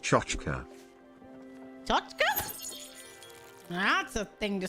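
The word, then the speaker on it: tchotchke: That T word is pronounced chochka.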